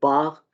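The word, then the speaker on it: Bach: रहे हैं, ठीक है, अगर CH से पहले जो है वो ये वर्ड्स हों, अल्फाबेट्स हों, AOU हो, ठीक है, तब हम इसको खा प्रोनाउंस करेंगे, ठीक है। CH इन वर्ड्स लाइक बाख, लॉख, बुख और राउखन, ठीक है।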